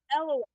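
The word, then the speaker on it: Eyllwe: So and her the wiki has the place is pronunciations from on it too. Elway.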